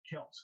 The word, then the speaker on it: Kelce: How about Travis Kelsey saying the other day his last name is Kelce, who's been pronouncing it wrong the entire time?